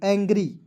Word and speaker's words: angry: Clear, यहाँ पे देखिए ANGRY, एंग्री। ठीक है, क्या पढ़ेंगे? एंग्री, अंग्री नहीं पढ़ेंगे।